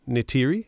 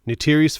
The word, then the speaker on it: Neytiri: Jake Sully begins exploring, finds, I'm horrible with pronouncing, Neytiri, I believe it's pronounced.